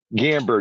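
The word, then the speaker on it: Gamburd: Give me the correct pronunciation of your last name. Gamber.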